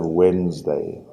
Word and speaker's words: Wednesday: And Wednesday, the D is silent, so we just have Wednesday.